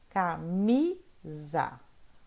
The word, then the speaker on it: camisa: Camisa. O mi é a sílaba forte.